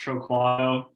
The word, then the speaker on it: Troquato: you call me next yeah my last name's pronounced troquoia okay people I some of my friends called